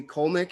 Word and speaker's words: Kolnick: roger that well colnick is that how we pronounce it that's it of jam with